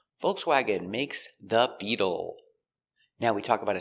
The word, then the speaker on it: Beetle: Pronunciation. Beetle. B. E. B. We change a t to a d sound between vowels. So it's bead bead. U beetle. The dark L with a tongue in the back.